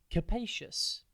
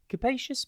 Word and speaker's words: capacious: TV today's word is capacious it's pronounced C pous and it is spelled c a p a a c i o u s think cap and then the letter a and then cus capacious means having a lot of space inside roomy